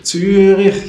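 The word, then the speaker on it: Zürich: I started it in Turik in Switzerland. So, greetings to Turik. Turik, you know, how did they pronounce it in that way?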